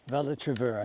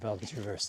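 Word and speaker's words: Val-de-Travers: Vald Traver. I knew it was Vald Traver, but I said Val Traverse, didn't I?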